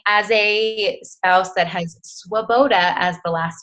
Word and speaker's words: Swoboda: you say your name the last name is Swoboda Swoboda okay it's a hard one it's okay it is spelled well wo be Oda it's it's check